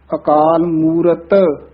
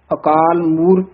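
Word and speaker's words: ਅਕਾਲ ਮੂਰਤਿ: अकाल मूरत, कई तत्ता छड़ जाते हैं, अकाल मूर्त कह देंगे हैं, शुद्ध तत्ता उच्चारण करना है, शुद्ध पद उच्चारण करना है, अकाल मूरत।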